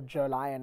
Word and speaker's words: Jolion: well especially considering that the normal uh Julian or Joe Lyon as the Aussies like to call it so however you want to pronounce it you've got turbo